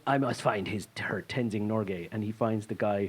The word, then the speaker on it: Tenzing Norgay: There's Tenzing Norgay. No, is that the wrong person I'm thinking? Yeah, that's how you pronounce it. That's his name, Tenzing Norgay.